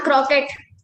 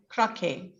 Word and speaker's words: croquet: you about i'm a crockett not crockett it's croquet the tea is silent there croquet okay and what description